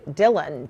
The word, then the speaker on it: Dhillon: Joe great to see you am I pr pronouncing her name right Dylan Dylan yes okay very good all right so uh